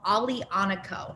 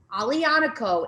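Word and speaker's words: Aglianico: looking for i love this grape it's called ali anako now this one's a little bit um more difficult here but you can see it at the top a g l i a n i c o alianico is a beast if somebody says that there's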